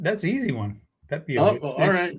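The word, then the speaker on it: Pepiot: Pepio. It's pronounced it. It's pronounced like it's spelled. I mean, I was guessing. It's not like I've ever heard. It's not pronounced how it's spelled, but go ahead.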